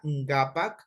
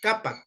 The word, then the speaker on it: ngapak: El morfema ngapak, o también le pronuncian capac, la K muy clarito, ¿ya?